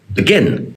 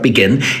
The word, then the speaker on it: begin: emphasize the first syllable contrast that with how we actually say the word we say begin the first syllable is so quiet that many kids don't even realize that the second letter of begin is an e because we say begin